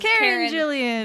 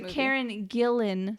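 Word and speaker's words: Karen Gillan: we were talking about was karen jillian but john travolta no sorry karen gillen sorry karen my god and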